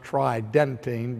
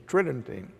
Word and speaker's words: Tridentine: tridentine it would sounds like it would be pronounced try denting but the normal pronunciation is trending and so when we look to the conciliar